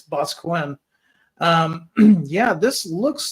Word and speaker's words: Boscawen: Yeah, it's not Boston, it's Boscawen.